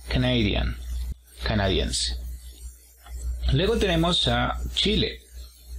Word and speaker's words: Canadian: Y para decir canadiense, fíjate en el apóstrofo, está a partir de la segunda sílaba. Ahí es donde vemos de levantar la voz. Canadian.